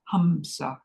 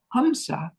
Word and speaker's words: hamsa: that we use is hamsa it's spelled h MSA hamsa hamsa is a breath monra hamsa is the sound that your breath makes when you inhale and exhale hamsa goes on within you every